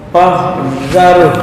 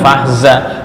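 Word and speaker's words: فاحذرهم: Kumul adu fahzarhum. Bukan fahza. Fahzarhum. Bukan za. Zar.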